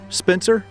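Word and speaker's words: Spier: This is the spot where Captain, I'm going to say S-P-I-E-R, Spencer is how I'm going to pronounce that.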